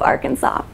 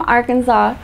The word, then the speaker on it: Arkansas: The name Arkansas derives from a French term and was initially applied to the Arkansas River. In 1881, the pronunciation of Arkansas with the final S being silent was made official by